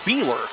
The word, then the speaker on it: Beeler: We got the pronunciation wrong. We were asked the coach. Coach told us wrong. It's Beeler. So Beeler at the free throw.